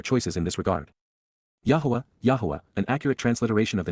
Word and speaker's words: Yahowah: Yahweh is Yahwa, God's one and only name pronounced Yahwh, based upon Haya, to exist, seed of honor, Kais,